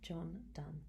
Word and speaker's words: John Donne: reason behind this but what looks like Don John Don is actually pronounced John D and one of the most